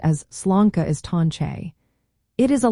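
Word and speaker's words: sláinte: To pronounce sla, say it like slanka.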